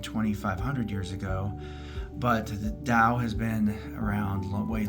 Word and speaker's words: Tao: Number one, it is pronounced with a D but spelled with a T.